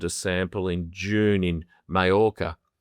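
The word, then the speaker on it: Mallorca: I can see that Nick Curios has been provisionally suspended after he submitted a sample in June in Mayora. Spelled Malora, but it's pronounced Mayora.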